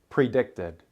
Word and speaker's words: predicted: Predicted ends with the D sound and an extra syllable. Predicted.